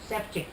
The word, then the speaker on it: Sefcik: It has a little V on top of the C, and when you get the little V on top of the C, you pronounce it ch.